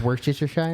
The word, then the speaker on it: Worcestershire: Dude, Firstly, it's pronounced Worcestershire.